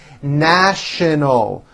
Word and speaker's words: national: offices in the city National with the sh sound in the middle and an l sound at the end n our story made